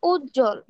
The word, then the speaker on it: উজ্জ্বল: উদাহরণ হচ্ছে উজ্জ্বল। মানে এখানে ডাবল যুক্ত বর্ণ আছে, জয় জ আছে, জয় জ থাকার কারণে এর সাথে আমার বটা উচ্চারণ হয় নাই।